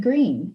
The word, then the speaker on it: Greene: My name is Greene. That's Green with a silent E at the end.